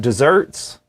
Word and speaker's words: deserts: And then that took me down another path about just desserts. It is just desserts, that is how you say it, but it is spelled D-E-S-E-R-T-S, like deserts, but you pronounce it desserts.